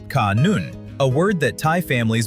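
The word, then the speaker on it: ขนุน: In Thai, jackf fruit is called canon, pronounced kanoon, a word that Thai families believe brings good fortune to their household.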